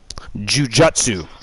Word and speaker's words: Jujutsu: it's actually nun Jutsu just like Jiu-Jitsu in North America we spell it g i u j TSU it's actually juu j u TSU Jujutsu but it is what